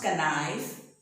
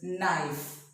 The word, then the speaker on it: knife: If a word begins with KN, the K is not pronounced. For example, no. So it is not pronounced as kano, but it is no. Not knife, it is knife.